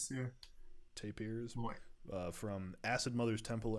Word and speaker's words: Tapirs: dream of electric tapers is that how it's pronounced yeah tape ears uh from acid mothers temple and the melting